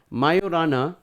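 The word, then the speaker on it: Majorana: Microsoft it's called the mayorana mayorana 1 mayorana is the pronunciation for this particular uh Quantum Computing chip it's called called mayorana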